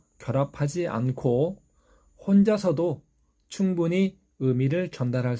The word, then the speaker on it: 의: 먼저 발음은 첫 번째 단모음 으와 두 번째 단모음 이가 빠르게 연결되어서 발음됩니다. 으, 이, 으, 이, 으, 이, 으, 이, 의, 의, 의, 의, 의, 의, 의, 의. 발음이 쉽지는 않습니다. 한국인들 중에도 이 발음을 그냥 첫 번째 모음 으로 발음하시는 분들도 있습니다. 꼭 의 발음 기억해 주시기 바랍니다.